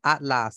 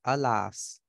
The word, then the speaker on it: alas: It's not at last, it's alas.